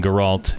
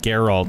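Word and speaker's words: Geralt: drunk dude was telling guralt Garold sorry emphasis on the wrong syllable there yeah don't yeah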